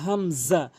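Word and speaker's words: همزة: এরপরে হামজা। হামজা অধিকাংশ লোক হামজা জবর আ বলে, চাপ দিয়ে বলে, এখানে চাপ দিয়ে বলা যাবে না, আ বলতে হবে।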